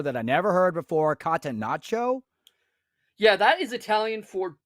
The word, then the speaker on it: catenaccio: Kata, like kata, and then nacho, like the cheese. Yeah, catenaccio.